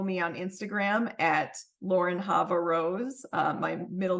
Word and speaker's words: Chava: can also follow me on Instagram at Lauren havar Rose uh my middle name is spelled CH ha vaa um and that's where